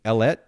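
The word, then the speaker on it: Ellette: who is live streaming ellet studio am i pronouncing that correctly that that's right it rhymes with baguette okay and you've probably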